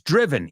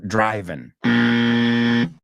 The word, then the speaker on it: driven: So, he's driven. Y ojo, he oído mucha gente pronunciarlo driving. Right? He's driven.